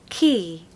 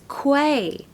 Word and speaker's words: quay: clean so it's automatically automatically number two is key key so most people pronounce this as Quay because guess what it looks like Quay now